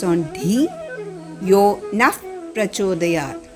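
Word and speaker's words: नः प्रचोदयात्: Yo Naf Prachodayat. When you combine Naha and Prachodayat, the sound F comes.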